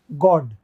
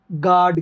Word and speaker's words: God: अच्छा, अमेरिकन लोग GOD को गार्ड कहते हैं, अमेरिकन गार्ड कहते हैं, ब्रिटिश में इसको गॉड कहते हैं। आपने कई बार मूवी में सुना होगा, ओ माय गॉड, ओ माय गॉड, ओ माय गॉड, तो गार्ड कहते हैं वो। लेकिन जो ब्रिटिश लोग हैं, IPA जो है हमारा है, वो इसको गॉड कहता है, गॉड, जल्दी बोलते हैं गॉड, ओ गॉड, गॉड, गॉड।